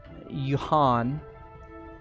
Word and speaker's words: Yhaunn: The northern port is known as Yuhan, and that's a mining city. The hell do you spell that? Yhaunn, Yuhan. Okay. You just pronounce them both together.